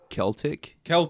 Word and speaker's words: Celtic: Hey, it's pronounced Celtic.